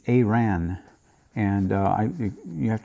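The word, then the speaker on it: Arawn: this anomaly uh 15810 uh Iran it's not Iran it's aan and uh I you have to excuse me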